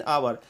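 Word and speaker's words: hour: इसमें थोड़ा सा पॉइंट और गौर करने वाली बात है कि जब कोई सिंगुलर काउंटेबल नाउन एच से शुरू हो लेकिन उस एच का उच्चारण नहीं हो तो उसके पहले एन लगता है। यहां पे आप लोग एग्जांपल में देख सकते हैं एन आवर। आवर जो वर्ड है उसका स्टार्टिंग एच से हो रहा है।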